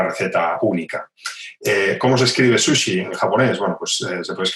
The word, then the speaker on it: sushi: Bueno, pues cuando hablamos de la palabra sola, pues sushi, evidentemente, pero cuando es una palabra compuesta, como inari zushi, temaki zushi, nigiri zushi, entonces la S se suaviza, la sílaba su se suaviza, en este caso con 2 rayitas en el hiragana, y se convierte en una Z sonora, ¿no?